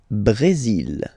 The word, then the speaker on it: Brésil: Le Brésil. Le Brésil. Okay, you will pronounce the final L here. And then remember, accent aigu goes like E.